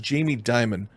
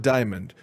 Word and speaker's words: Jamie Dimon: And two, it's pronounced Jamie Dimon, not Diamond.